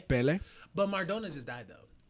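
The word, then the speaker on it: Pelé: Pele.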